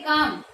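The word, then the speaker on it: calm: इसके बाद में हम करें काम, तो काम वही सिंबल क्या, का एल है वो साइलेंट आएगा, मैं का सिंबल क्या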